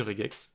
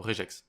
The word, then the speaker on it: regex: le prononcer une une regex. Une regex ou une réjex. Alors moi je vais dire réjex. Voilà, je je le prononce je et pas mais vous faites comme vous voulez.